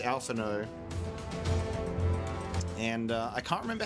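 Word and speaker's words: Alphinaud: name is even pronounced is it alphano or alphan no I'm pretty sure it's like the D is silent cuz it's like that French thing right I think it's alphao and uh I can't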